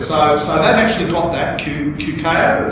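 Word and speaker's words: Queqiao: Okay, so that actually got that QKO, it's called. I'm not sure how to pronounce it. Andrew, you know the proper pronunciation of it? QKO. Spacecraft name. Yeah, it's called QKO. That's how we pronounce it.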